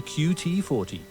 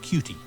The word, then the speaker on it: QT40: so please report to qt40 not pronounced cutie you'll find me at